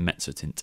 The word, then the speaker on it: mezzotint: It's such a distinctive word, those two double Zs, and it's got that Z sound, doesn't it? Like pizza. That's how you pronounce it, the Mezzotint.